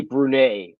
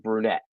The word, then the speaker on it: Brunet: with your pronunciations so if they're French Canadian descent and ET is like an A so Freddy brune on the Bruins instead of brunette it's brune because you're you're enunciating that ET like like a long